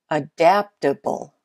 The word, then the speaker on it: adaptable: Adaptable. Got it? Adaptable has the second syllable as the most stressed.